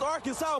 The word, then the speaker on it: Arkansas: And that's how you pronounce it. Ain't aren't. It's Arkansas, baby.